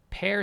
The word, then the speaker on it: Per: It's pronounced like pear. Per Schneider.